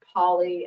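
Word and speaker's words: Pollaidh: And my name, if you ever see it written out, is spelled P-O-L-L-A-I-D-H, and it's just pronounced Polly, and that's because I'm named after a mountain in Northwest Scotland, so it's Gaelic.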